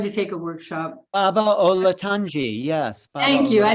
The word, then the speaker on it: Olatunji: Baba Olatunji, yes.